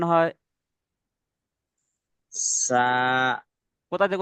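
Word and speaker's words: ثاء: দাঁতের উপর থেকে, সামনে দুটো দাঁতের দাঁতের আগা উপর, এবং দা- জিভ দাঁতের উপর, জিভের আগা দিয়ে, আর এবং সামনে দুটো হ্যাঁ, দাঁতের আগা জিভ, দিয়ে উচ্চারণ করতে হয় সা।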